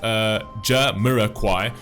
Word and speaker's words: Jamiroquai: In 1966, UK pronounced Jah-Mirror-Quai.